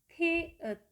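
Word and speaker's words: 티읕: Konsonan selanjutnya yang ke-12, nama hurufnya adalah tiet, tiet, tiet. Nah, cara melafalkan huruf ini adalah mengeluarkan huruf T, kemudian menambahkan huruf H di belakangnya, sehingga pelafalannya menjadi the, the, the, the.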